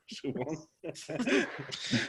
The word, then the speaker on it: Siobhan: Siobhan. We used to say, Siobhan, your knickers, your father is coming. It was a common joke in Ireland because Siobhan means like to put on quickly.